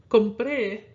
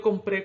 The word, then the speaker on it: compré: Compré is accented on its final syllable when, if it followed the natural stress rule, it would be accented on the syllable before that. So when you want to say, I bought food, yo compré comida, or compré comida. The compré, you're accenting more on the pre part.